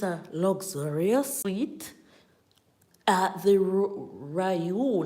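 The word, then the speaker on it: Riu: Yes, it's a luxurious suite at the Ryu, not Rio. Ryu is R-I-U, and it is spelled that way and pronounced that very same way.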